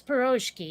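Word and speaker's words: pirozhki: kinda yeah another but if they're gonna spell it p i r o z h k i that's piroshky in my book yeah uh well there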